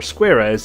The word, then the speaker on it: Squarez: This is Squarez, or Squarez as certain news groups might have you pronounce it, and it comes from